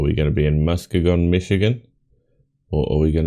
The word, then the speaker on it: Muskegon: I've never heard of Muskegon. That's how it's pronounced.